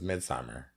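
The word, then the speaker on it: Midsommar: Oscar pronounces it Midsomar. That's because everybody else on the planet says midsummer.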